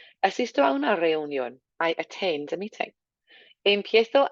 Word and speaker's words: reunión: Watching that word reunión, not to make it sound like reunion. So a nice reunión. Try not even to make your tongue hit the top of your mouth there. Accent on the O as well.